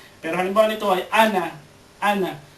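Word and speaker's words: أنا: Ang ana, totoong may mad dyan na alif, may nakasulat pala na alif dyan, na sukun, pero hindi yan binibigkas. Nasasabi mo nung ana, hindi. Yan ay binabasa na ana.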